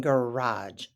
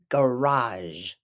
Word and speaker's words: garage: friends is a parking garage a park parking garage in the US that's how we pronounce it parking garage got it oh I know it looks like parking gar age but not like that we don't pronounce it